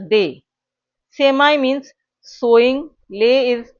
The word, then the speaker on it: des: It's pronounced as day.